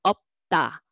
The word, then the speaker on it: 없다: So typically, if it is not R combination, the first one speak out for the first syllable. So up. And next one want to be carry over, but there's already another consonant, then you cannot carry over, just to make a tense sound. So 없다, 없다. That's how you read.